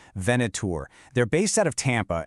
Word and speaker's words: Venator: They're bringing in specialized partners, and a really key one is a company called Venator, and that's pronounced Venator.